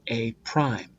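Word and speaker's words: A′: different I call it a prime this little apostrophe here is called Prime the pre-image is a the image is a prime that's how you say it the vocab that's the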